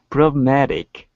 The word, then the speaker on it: problematic: Problematic. Good. And then the T sounds like a D.